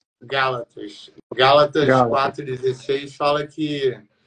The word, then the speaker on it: Gálatas: tiver errado galos galact é como que pronuncia o que o livro bíblica é Gálatas Gálatas Gálatas 4:16 fala que